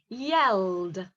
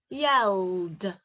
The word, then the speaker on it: yelled: did you get it yelled yelled can you hear the sound at the end mixed yelled they've got different sounds